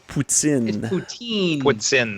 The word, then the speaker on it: poutine: says is it pronounced putin or poutine it's pronounced boots in in the team what's in that is the correct pronunciation yes well it's just however the French pronounce it yes boots in it